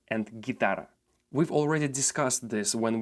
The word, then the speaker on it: guitarra: letter G is that when the letter G is located in the groups G or Gi, the letter U becomes completely silent. So basically, when we have words guerra and guitarra, we don't say guerra nor guitarra.